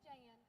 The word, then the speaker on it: Jane: My name's Jan, but it's spelled Jane with a silent E, so don't y'all go calling me no Jane.